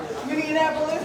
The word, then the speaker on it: Minneapolis: Minneapolis? Yeah, like Indianapolis.